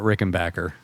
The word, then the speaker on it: Rickenbacker: But uh the one thing that I've always loved about Rickenbacker See, I said it right.